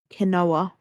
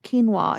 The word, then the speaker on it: quinoa: it's like my nan she pronounces um quinoa as um kinoa kinoa like and I'm like now it's it's quinoa and she's like it's Canoa no sorry that is